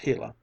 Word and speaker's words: Gila: hot Sun shone down on the Gila monster pronounced Gila it was no longer tame and gentle but